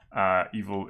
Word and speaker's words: eval: Evil is like eval, right? But you pronounce it evil because it is evil.